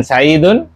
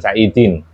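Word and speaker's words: سَعِيدٌ: Kemudian saidun khabar. Nam. Makanya bacanya Saidun bukan Saidin.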